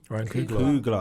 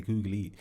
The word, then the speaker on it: Ryan Coogler: Ryan Coogler. I was going to say Coogly.